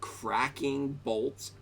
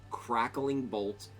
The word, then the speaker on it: Crackling Bolt: So we're going to check out Fireball, Blizzard, Cracking Bolt. I keep saying it wrong. Crackling Bolt and Bristling Frost.